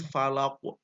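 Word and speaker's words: الفلق: ya Mul a'udzu birabbil Falaq bukan kulhu birabbil Falaq itu membedakannya kosnya harus memantul secara alami tidak seakan-akan setelah coffee ini ada Hamzah ya begitu yang pertama nirsya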